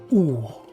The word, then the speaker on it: Ur: Ça s'écrit UR, mais d'après ce que j'ai lu, ça se prononce Our.